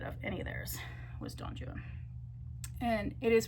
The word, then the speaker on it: Don Juan: Um, but my favorite thing I read of any of theirs was Don Juan. And it is pronounced Donjuan in the English, this particular English poem for the rhyme scheme.